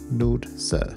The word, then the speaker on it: Nordsø: dots in Swedish and it's pronounced ER as in Fern and we pronounce o as in Moon rather than Lord so if you want